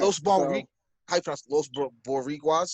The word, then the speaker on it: Los Boricuas: Los Boricuas. That's how you pronounce Oh, Los Boricuas?